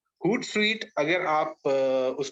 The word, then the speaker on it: Hootsuite: Social media tools जो है, मैं अगर उसका एक एग्जांपल दूं सिंपल सा, हूट स्वीट करके एक सोशल मीडिया लिसनिंग टूल है। इसकी स्पेलिंग है HOOTSUITE, हूट sweet. हूट sweet अगर आप उस पे